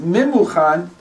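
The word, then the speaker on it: ממוכן: It's written in the Megillah, the first time that Haman appears, his name is Memuchan, and it's written Mumkan. Mumkan means Mumkan, blemish here. Wow. And it's pronounced Memuchan, prepared.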